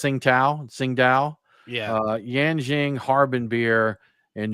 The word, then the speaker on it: Tsingtao: Yeah, and then of course you got I believe it's pronounced Tsingtao.